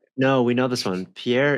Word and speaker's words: Pierre: Pierre. Yes. France. Pierre. Wait. No, we know this one. Pierre is like cuz they they pronounce it like pier.